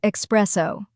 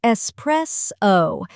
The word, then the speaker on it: espresso: And mistake number 4, pronouncing espresso as espresso. There's no X. It's espresso, not espresso. This one drives coffee people crazy.